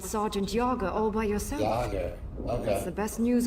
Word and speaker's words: Jagier: Yager, okay. That's the best news I've heard all day. If the lot of us don't die tonight, I'll buy you a drink. Yager.